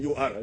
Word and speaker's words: Ur: It is written U-R. I don't know how they pronounce it. But we pronounce it in our language, Uri, Mesopotamia, and settled in Haran, Canaan.